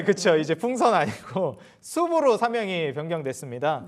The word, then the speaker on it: SOOP: 네, SOP가 이제 숲이라는 숲, 그쵸. 네, 발음이 이제 숲인데 숲 어때요?